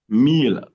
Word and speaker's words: mille: But there are words that don't go with that rule generally. There are not that many. We have ville, city, mille, thousand, tranquille, tranquility. But other than that, we